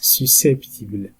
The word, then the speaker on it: susceptible: إذا كان لدينا اس متبوع ب c وأمامه e أو e فإنهما ينطقان معا ب s. susceptible.